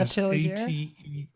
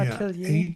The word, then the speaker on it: atelier: And it sets up workspaces for it's called a tell I I'm not sure I can pronounce it. A atelier which is a atelier Yeah, atelier.